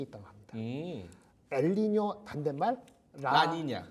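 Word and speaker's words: La Niña: 엘니뇨 반대말 라니냐. 네, 발음 어려워요. 그죠? 라니냐. 라니냐. 네, 하여튼 스페인 말이죠. 라니냐, 스페인 말이죠.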